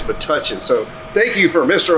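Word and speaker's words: Metuchen: 13 years old and i have pronounced matuchen wrong the entire time it is but touching so thank you for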